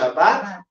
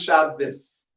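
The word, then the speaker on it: שבת: Some will pronounce it Shabbat, and some will pronounce it Shabbos with a Sab at the end.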